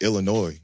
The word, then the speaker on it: Illinois: The Fighting Illini is like, even like Illinois, that's like, that's why the S is silent.